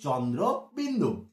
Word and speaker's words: চন্দ্রবিন্দু: এই দেখো এই যে চাঁদ, দেখেছো যে চাঁদ, এই চাঁদের মতন দেখতে সাদৃশ্য আছে বলে সবাই বলে চন্দ্রবিন্দু চাঁদ, চন্দ্রবিন্দু চাঁদ।